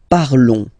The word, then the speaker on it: parlons: Nous parlons, okay? Remember, final S is not pronounced, okay? And then this on together, they will give you the sound on, okay? Nous parlons, all right?